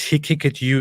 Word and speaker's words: Haqiqatjou: be accurate but I believe you Dove blackfell pronounced he kick at you is it's all in his name yeah it's